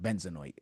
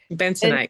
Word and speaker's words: Bentonite: Benzonoid. Is that it? Yeah. I said it right. Things like that. Bentonite Right? clay. Yeah. Bentonite. Bentonite clay. That one. That's what I said.